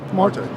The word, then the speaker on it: Marte: And LT, I just want to let you know, is it Marty or Marty? Marte. I want to say your name pronounced.